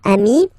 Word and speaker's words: ami: Remember, if you want to put the plural form, then you just add this final s here. Okay? But then technically, you pronounce it the same way. So, singular form, amii, plural form, you add this s, but it's amii as well.